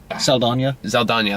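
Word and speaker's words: Saldaña: Saldana, That's how you say it.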